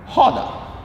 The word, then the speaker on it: roda: So when the R is in the beginning or in the end of each word in Portuguese, it sounds like H, okay?